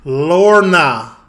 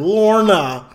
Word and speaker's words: Lorna: Lorna. Just say it like an American. Lorna. Lana. Lorna. Lana. Did I not just fucking say that? Spell it. L-O-R-N-A.